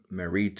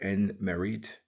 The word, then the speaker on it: Merit: Then we have the ripple of water, the hoe, and loaf of bread, transliterated as NMRTY, pronounced as Merit or N-Merit.